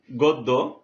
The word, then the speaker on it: গদ্য: যেমন আমরা দেখতে পাচ্ছি গদ্য, গর সাথে অ আছে, তাহলে এখানে কি হয়েছে, আদ্য অ ও কারে রূপান্তরিত হয়েছে এবং হয়েছে গদ্য।